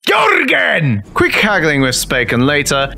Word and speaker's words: Jurgen: Jürgen Dexon. Jürgen. His name is pronounced Jorgen!